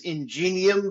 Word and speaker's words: Ingenium: and now the uh the publishing company is ingenium books is that how you say it that's